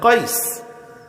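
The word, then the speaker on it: قيس: ওই আপনার যেটারে কায়েস বলেন, কায়েস আরবি উচ্চারণ হলো কাইস।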